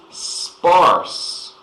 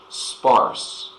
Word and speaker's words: sparse: next it is sparse so British English the English I speak I'm South African we say sparse but you could also use the American pronunciation American an would say spars but I speak British English it's a different um